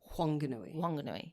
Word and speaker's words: Whanganui: And perhaps it should be said with a W because the locals say it. Whanganui.